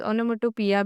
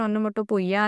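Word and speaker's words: onomatopoeia: ओनोमोटोपोइया को हम pronunciations ओनोमोटोपिया भी बोल सकते हैं। एक्चुअल में प्रोनाउंसिएशन ओनोमोटोपोइया आता है।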